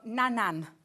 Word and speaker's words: Nanan: So nanan. Nanan has a... How do you spell that?